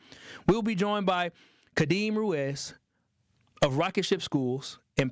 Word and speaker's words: Ruiz: Well, what's Ruiz? Like that. How do you spell Ruiz? You spell it the same way, but it's pronounced Ruiz.